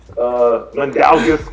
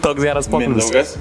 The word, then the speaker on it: Mindaugas: Mandaugis Kuzmiskis. What? I don't know how to pronounce his name, right?